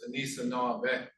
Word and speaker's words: Anishinaabe: That when you actually break it down, the old way of saying it is Anishinaabe.